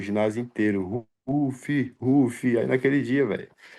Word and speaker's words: Ruffy: No no Brasil a galera pronuncia como se lê, mas como na realidade a pronúncia correta é é Ruf, né?